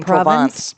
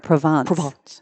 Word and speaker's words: Provence: A good example is that the book that I have out in August is One Night in Provence. Oh, I'm not even saying it right. Provence.